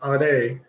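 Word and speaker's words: עדה: It's pronounced ade, but in the English it's E-D-A-H. But if you want to pronounce it properly, it's ade.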